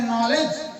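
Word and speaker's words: knowledge: नहीं अब लिख रहे नॉलेज अब लिख रहे नलेज के एन ओ डब् एल ई डी जी ई शुरू कर रहे के से लिखना लेकिन पढ़ रहे न से तो इंग्लिश में साइलेंट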